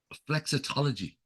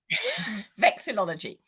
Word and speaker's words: vexillology: Listen, let's wind back to that word you used, which unfortunately, when it goes past 2 syllables, I struggle. Flexitology. Vexillology.